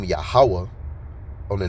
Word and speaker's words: Yahweh: But the correct Hebrew pronunciation is Yahweh.